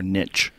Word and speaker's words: niche: Then you saved me by saying ary like niche or niche. I guess you could say both. Yeah. Someone said you're not saying it right. And then I said, "Are you sure?" And then I looked it up and apparently you could say both ways.